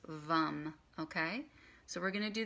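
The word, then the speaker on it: Vam: mantra for that one is vom V AM or pronounced bum okay so we're gonna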